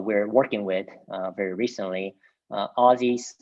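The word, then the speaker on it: Ozys: working with very recently aussies is spelled o z y s there they started they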